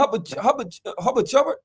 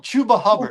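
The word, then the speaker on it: Chuba Hubbard: Him and Hubba Chubb. Chuba. When you say it wrong, I say it wrong. Chuba Hubbert. Chuba Hubard.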